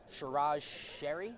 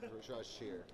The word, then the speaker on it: Shiraz Shear: Mark Toss, Rachel Tether, Shiraz Sherry. Shiraz Shear. Shear, it's one syllable.